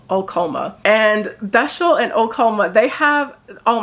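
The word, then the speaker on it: Besźel: pronounces these words, because these were not the pronunciations I had in my head reading this book. But we have our first city, Beshel.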